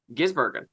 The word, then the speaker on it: Gisbergen: He says Van Gisbergen. And I'm like, you're just emphasizing too hard on the Bergen part, my guy. Yeah. It's really just say Gisbergen. Yeah. Van Gisbergen.